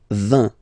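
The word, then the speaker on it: vingt: And the last one, so this G letter is here, but you don't pronounce it, okay?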